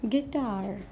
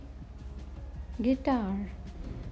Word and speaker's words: guitar: Next is guitar. Guitar. Sound shows there is no U, but there is a U. Guitar.